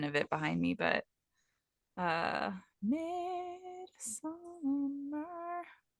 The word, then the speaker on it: Midsommar: I have a pin of it behind me, but Midsummer. Okay, so it's spelled Midsommar. Mm-hmm.